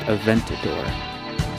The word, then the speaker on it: Aventador: I believe it's pronounced Aventador so I believe it's called the Lamborghini Aventador it's a beautiful car